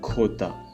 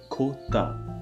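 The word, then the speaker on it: jota: J is Kota. Kota. Remember, it is not Kota, it is Kota.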